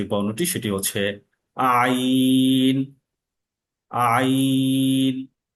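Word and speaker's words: عين: আইন আইনের শব্দটা শক্ত এবং চাপ দিয়ে করতে হবে। সেটা গলার মাঝখান থেকে এবং গলার মাঝখান থেকে এটা চাপ তৈরি হবে এবং টাইট বা শক্ত করে এটাকে উচ্চারণ করতে হবে। এই আইনের উচ্চারণ এবং আলিফের উচ্চারণ কাছাকাছি।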